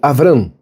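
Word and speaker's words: אברם: Por isso, Abrão, ou Avram, como se fala em hebraico, pai de um povo.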